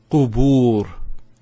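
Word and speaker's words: قبور: And finally, here, qubur. Qubur. So there's the u sound again. They have a ba with the dhamma, followed by the waw. So you can see how the long vowel is formed there.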